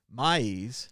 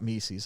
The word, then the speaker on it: Mies: Mies, not Mises, I said it wrong earlier.